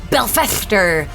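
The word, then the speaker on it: Belfestre: That would be Belfester the Blazing.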